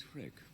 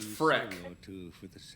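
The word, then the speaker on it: Freke: My name is Frick. I am known as a sage. Oh, wow, both of us pronounced it wrong. It's just Freck.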